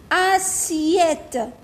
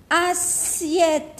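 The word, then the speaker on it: assiette: كي كاين دوبل اس ننطقوها س. اسيت اسيت اللي هو الطباسة طبسي.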